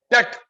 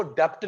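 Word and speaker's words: debt: Huge डेट, इसको डेप्ट नहीं बोलते, बी साइलेंट होता है बेटा, इट्स नॉट डेप्ट।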